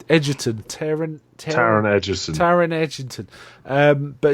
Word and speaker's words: Taron: Yeah, actually does it, but it was Michael Sheen and the guy that is it I can never pronounce his first name. Edgerton, Taron Edgerton.